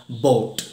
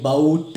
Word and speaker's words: bought: Okay, ഇനി മൂന്നാമത്തെ വേർഡിലേക്ക് പോവാം, ബോട്ട്. ഓക്കെ, ബൗട്ട് അല്ലെങ്കിൽ ബൗഗിട്ട് എന്ന രീതിയിലല്ല, ബോട്ട്.